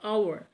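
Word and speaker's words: hour: आवर तो है। आवर H consonant है। बट ये साउंड जो है यहां पे वोवेल की आ रही है। आवर आवर एच को साइलेंट रखना है।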